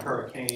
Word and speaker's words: Hurricane: And it's spelled hurricane, but that's not how it's Hurricane.